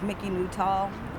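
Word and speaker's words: Mickie Nutall: You can just start by saying your name and spell it for us too. My name is Mickey Newtall.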